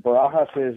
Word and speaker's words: Barajas: name very good other Barajas I know in Spanish you just pronounce the J like an age that's that's that perfect